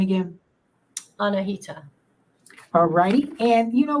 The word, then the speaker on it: Annahita: welcome back and and give us the correct pronunciation of your name again anahita AL righty and you know what so how